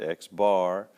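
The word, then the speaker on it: x̄: In this case, x bar, and that's the way you pronounce it, x bar, is the sample mean, and mu, and this is a Greek letter mu is the population mean.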